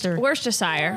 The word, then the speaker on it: Worcestershire: Worcestershire.